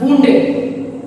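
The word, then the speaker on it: wounded: Synonyms इसके देखें, disabled, disabled and वुंडेड। ये बाउंड नहीं है, इसकी एग्जैक्ट प्रोनाउंसिएशन क्या है, वुंडेड, ठीक है, जख्म होते हैं, ठीक है।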